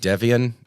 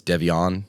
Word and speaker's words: Devon: the groom's name I I said devian and it's Devon like it it's such